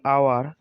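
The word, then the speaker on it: hour: বন্ধুরা, এখানে কিন্তু আওয়ারের মধ্যে এইচ রয়েছে, কিন্তু এখানে ওর উচ্চারণ হয়েছে। তারপরে অনেস্টের মধ্যে এইচ রয়েছে, এখানেও ওর উচ্চারণ হয়েছে। এইচ দুটো কিন্তু এখানে সাইলেন্ট রয়েছে।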